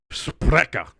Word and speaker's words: Sprecher: I imagine it's pronounced very Germanic since you're in Wisconsin. Sprecher.